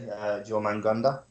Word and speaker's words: Jormungandr: Jormungandr.